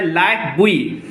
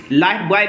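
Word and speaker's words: lifebuoy: There was अ लाइफ बुई, लाइफ बॉय भी पढ़ सकते हो, लाइफ बुई भी लिखा हुआ है, तो लाइफ बॉय पढ़िए, बेस्ट रहेगा। ज़्यादा लोग उच्चारण करते हैं लाइफ बॉय।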